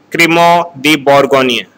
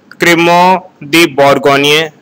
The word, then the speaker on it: Crémant de Bourgogne: First is Crémant d'Alsace, Crémant de Bordeaux, Crémant de Bourgogne. It is pronounced as Crémant de Bourgogne, Crémant de Loire, Anjou Mousson. It is Anjou Mousson. Again repeating, Crémant d'Alsace, Crémant de Bordeaux, Crémant de Bourgogne, Crémant de Loire, Anjou Mousson.